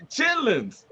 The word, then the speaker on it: chitterlings: She pronounced every T in that mother. Those chitterlings? Yeah, the chitterlings. Chitlins.